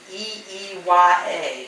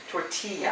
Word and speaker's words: tortilla: I do, and if I spell it in my mind, Torteeya, and that's what I've been doing. Tortilla. I see it in my mind as tortilla. But that's not how it's spelled. I know, but I have to do it that way, or I'll say tortilla.